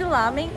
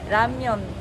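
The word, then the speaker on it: 라면: É que aqui a gente chama de ramen, mas na pronúncia mesmo é ramyeon.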